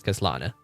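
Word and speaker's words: Khaslana: don't really mean that if you just add an H at the beginning all of a sudden this part is pronounced differently. No, this should still be read as Kaslana.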